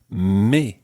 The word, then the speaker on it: mes: And the plural is mes. Mes. And it ends in an S. So normally the S is silent, but when it's followed by a vowel, it becomes mes.